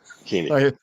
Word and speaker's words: Koenig: Yes, Koenig.